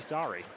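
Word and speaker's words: Saari: Kirby Sari, I don't know if it's obvious to the people how his name is spelled. His last name sounds like an apology.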